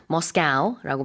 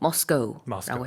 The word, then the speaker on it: Moscow: 영어식으로는 두 가지 발음이 가능합니다. 지금 셰인 선생님이 Moscow라고 발음했는데 그 발음도 가능하고요. 저는 보통 Moscow라고 해요. 이 발음도 가능합니다.